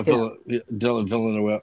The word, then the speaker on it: Villeneuve: Yeah, Villeneuve. Yeah. yeah. Yeah, because it looks like it should be about 5 syllables, and when he says it, it's 1.